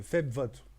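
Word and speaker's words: Febvotte: En fait, c'est Feb Vote. Ouais, Feb et Vote.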